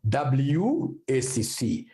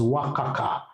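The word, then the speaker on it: WACC: calulate Eva we also need what we call wac so I want to come and calculate wac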